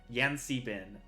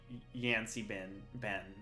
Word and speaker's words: Yancy Bin: And you learned of a god of the elemental air, Yancy Bin. 3 syllables, not Yancy Ben, not one.